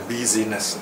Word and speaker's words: busyness: Okay, perhaps you should pronounce the word as busyness here, because he's saying it has nothing to do with the running of his family anymore.